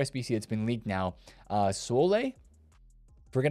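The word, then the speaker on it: Soulé: Sole. Forget how to say his name. Sule, I think, is how you say his name.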